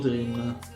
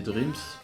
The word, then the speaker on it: Dreams: Donc voilà pour Dreams, pardon. Je sais pas pourquoi je dirais Dream alors que c'est Dreams.